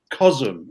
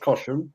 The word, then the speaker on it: Cosham: So, my 100% attention to everything that goes on in Cosham, not Cosham, Cosham. That's the local word, isn't it? That's how it's spelled.